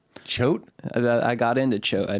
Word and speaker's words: Choate: It sounds like a kind of like a prickly dick or something. Like a choate. A chode, but it's good. It's not prickly. It's something. It's not a chode.